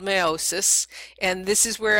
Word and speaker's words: meiosis: and this is where I had in the past been calling it meiosis, just so you can see what that word looks like, but it is meiosis the way it's pronounced.